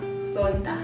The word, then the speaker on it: Sonta: Sonta. Sonta. Yes, not Sonto, as in church Sonto.